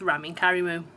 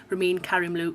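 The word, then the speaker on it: Ramin Karimloo: be a duet with rameen karimu or rameen karimloo as apparently it's called but i apparently mashed up the pronunciation um i wasn't going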